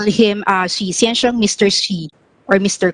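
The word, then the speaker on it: Xu: It's pronounced Xi.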